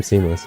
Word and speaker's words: SeamlessR: Why the name Seamless? I know the whole seamless R and R is silent thing, but like why seamless?